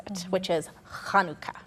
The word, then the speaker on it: Hanukkah: pronounce it which is kanuka okay with that H sound okay um do you